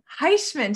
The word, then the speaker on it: Heishmann: This is Heishmann.